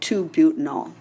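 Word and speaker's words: 2-butanol: to write it they would write butan - Oh L but you still pronounce it 2 butanol and letter C then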